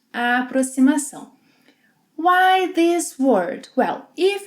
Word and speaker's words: aproximação: Aproximação. Both X and cedilha will have a S sound in this word. Aproximação.